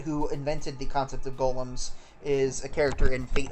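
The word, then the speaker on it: GOLM: id is gtmcmg olm he's asked to be referred to by the last bit which is of course g-o-l-m much to the right has been pronounced like golem anyway on a side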